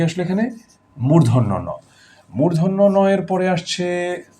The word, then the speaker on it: মূর্ধন্য ন: এর পরে আসছে ত মূর্ধন্য নটাকে আমরা অনেক নামে ডাকি মদিনা মধ্যান্য এবং কেউ এটাকে অনেক শুদ্ধ করে মধ্যানহ বলে ফেলে মানে দুপুরবেলা মধ্যানহ এটা মধ্যানহ না মূর্ধন্য ন মূর্ধন্য ন এর পরে